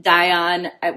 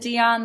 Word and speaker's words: Dion: first of all um die on which I pronounced die on because I'm I am French in my heritage but I don't like speaking or anything and my the last name comes from my ex-husband and he and his family pronounce it die on so that's how I I pronounce my name die on I don't care if you pronounce it Dion that's fine by me